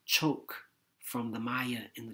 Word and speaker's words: chok: could hold its shape shark from chok pronounced choke from the maya in